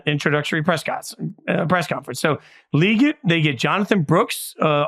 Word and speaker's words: Legette: Carolina takes Xavier liate we learn it was leate by day two okay thank you thank you okay no idea I I've I've for years I've read his highlights at South Carolina and it's always been Legette but Le get he informs us it is an introductory